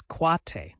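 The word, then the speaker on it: quatre: Next up, number 4, which is quate. Say it like cat root, it's like saying cat with a twist at the end.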